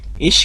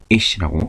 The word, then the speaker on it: ich: 이거를 이히라고 해버리면 모음이 2개짜리가 되는 거죠. 우리말로. 그러니까 그렇게 발음하지 마시고 이씨라고 그냥 깔끔하게 히는 뒤에 끝나는 소리입니다. 이씨 이렇게 발음하시면 좋겠습니다.